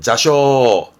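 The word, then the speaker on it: 座礁: 이게 좌초라 발음은 자쇼.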